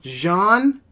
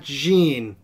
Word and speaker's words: Jean: that I'm pronouncing genes name wrong it's actually pronounced John and not Jean and I'm sorry I need to just listen